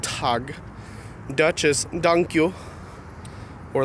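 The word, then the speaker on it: tak: then check is donkey danish is tag or talk but it's pronounced tog Duchess dunk you or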